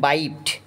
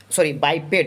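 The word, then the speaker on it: biped: আই এম বাইপড মানে কি, বাইপেড, এটা উচ্চারণটা বাইপেড হবে, বাইপেড। আই এম বাইপেড, বাই আর PED প্যাড।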